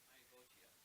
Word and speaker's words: Myagotia: Myagotia. Myagotia. Pronounces the T hard.